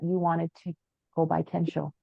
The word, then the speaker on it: Kensho: out was that you wanted to go by Kensho, not Ken anymore. Yes, Kensho. Yes, that's correct. So, my real name is Kensho.